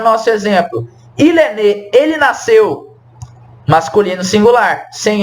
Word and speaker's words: née: Elle est née. Olha só, não tem diferença na pronúncia. Il est né, elle est née.